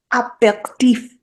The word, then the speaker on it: aperitif: Aperitif. Yeah, just like that. That's how you say it.